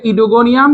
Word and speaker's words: ওইডোগোনিয়াম: আর ও মানে ও ইডোগোনিয়াম, এটার উচ্চারণ হবে ইডোগোনিয়াম কিন্তু বানানে হবে আগে ও।